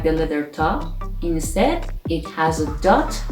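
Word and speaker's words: ط: word for example the 19 letter is top which is pronounced t for example like tank in english it has one form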